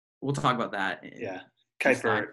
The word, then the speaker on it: Kuiper: talk about that yeah kuiper uh kuiper belts how it's pronounced and if you go